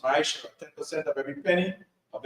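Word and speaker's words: מעשר: Means 10 in Hebrew, and it's pronounced Ma'asher.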